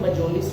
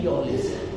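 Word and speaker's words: mjölis: उसके बाद है देखो MJOLIS, इसकी जो प्रोनाउंसिएशन है मजोलिस नहीं है, इसकी प्रोनाउंसिएशन है योलिस। यानी यहाँ पर स्वीडन में J को Y कहा जाता है, तो ये सब मजोलिस नहीं कहेंगे, योलिस कहेंगे। M को साइलेंट भी कर देते हैं, कुछ में मयोलिस भी है, लेकिन J तो है ही नहीं, या तो मयोलिस या योलिस, लेकिन डोंट से मजोलिस।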